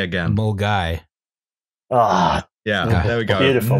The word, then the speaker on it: Milngavie: Justin, say Mulguy again. Mulguy.